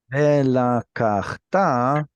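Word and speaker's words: ולקחת: There are two conjugations that get ultimate instead of penultimate stress. One is you, a man, did it. The other one is I did it. Mhm. Velakachta, you shall take. How do you say, and I shall take? T. Velakachti. Yeah. Without the vav on there, it should be lakachti or lakachta. That's usually where the stress goes.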